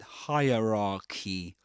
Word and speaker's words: hierarchy: You don't say that, but hierarchy hierarchy. And the last part, the last syllable is pronounced just like the word key.